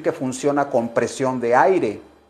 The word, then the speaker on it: aire: funciona con presión de aire no se dice aigre se dice aire Okay no me pronuncie